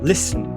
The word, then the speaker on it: listen: em psychology, psychology, psychology, st, listen, listen, listen. Pois é, não falo T nessa palavra, é listen, t mudo.